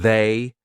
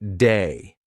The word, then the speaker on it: they: The voiced TH, lots of English learners will pronounce it like a D. So instead of saying they, they'll say something like day.